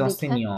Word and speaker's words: enseignant: যে শেষে যেহেতু একটা ও আছে তার মানে এটা সাইলেন্ট, টি পর্যন্ত উচ্চারণ হবে, তাহলে অ সে নি অথ, enseignant অসেনিয়ত।